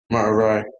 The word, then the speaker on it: Merari: It's pronounced Merari.